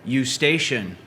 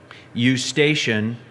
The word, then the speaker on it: Eustachian: incorrect on the spelling you station there's an e u s t a c h i so there's a ch sound in there can you tell me